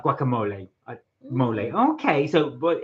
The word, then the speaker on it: mole: yep let's do it uh Sam said it's pronounced mole like like Gua mole mole okay so but it's mole poblano thank you